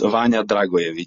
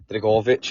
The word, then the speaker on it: Dragojević: Yeah, well, it's Vanja Dragojević. So, but I know you guys would say Dragojević. Dragojević. Uh so, the J in Serbian language is pronounced as Y.